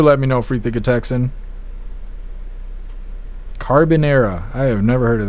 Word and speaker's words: carbonara: Carbonara.